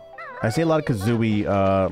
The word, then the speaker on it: Kazooie: I just say bird because it's like it's one syllable and I'm too lazy to say Kazooie. Because it's three syllables, you know what I mean?